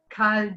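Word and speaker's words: Khal: And that Cale d'étoiles, Carl's name is pronounced the same way, Cale, K-H-A-L, as Cale, C-A-L-E, meaning cargo hold.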